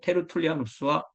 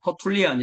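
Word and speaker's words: Tertullianus: 신의 주유 저술가가 바로 테르툴리아누스 그의 후계자인 키프리아누스 그러니까 테르툴리아누스 카르타고의 테리스 키프리아누스 카르타고의 키프리아누스 보 영어로는 우리가 터툴리안 이렇게 하고 뭐 키프리안 이렇게 말하는데 요즘은 원래의 발음대로 불러주는게 국제 표준입니다 그리고 히의 아스 스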